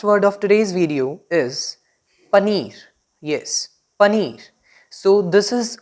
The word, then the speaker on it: paneer: Now the last word of today's video is paneer. Yes, paneer. So this is a bit uncommon from its pronunciation that we pronounce it as paneer but